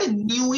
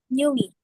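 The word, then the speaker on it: nuit: So what you do is you combine the word new with E and you say born new E.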